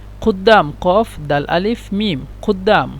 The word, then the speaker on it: قدام: قاف دال ألف ميم عند الكتابة، لكن هم ينطقون قدام.